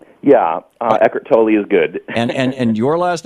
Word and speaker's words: Eckhart Tolle: Am I pronouncing Eckart's last name right? Yeah, Eckhart Tolle is good.